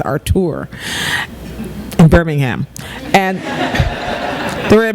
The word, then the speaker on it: Artur: And I settled on a little-known congressman from Alabama whose name is Artur Davis. His mother was a French teacher, so it's pronounced Artur, in Birmingham.